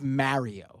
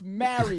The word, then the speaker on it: Mario: His name is Mario.